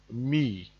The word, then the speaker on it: mi: R is pronounced r m is pronounced me f is pronounced far